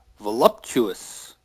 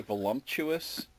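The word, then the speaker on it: voluptuous: Voluuptuous. Yes, voluuptuous. You're correct. How do people normally say it wrong? A lot of people put like an M in there. They say voluumptuous.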